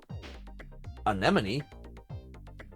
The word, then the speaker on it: anemone: enemy an enemy and please note that it's pronounced anemy aemy yes anemone those colorful sea creatures